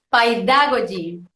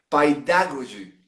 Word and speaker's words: Paidagogy: Jugándola un poco como si fuera una palabra en inglés, que sería pedagogy en inglés, entonces esto es paidagogy.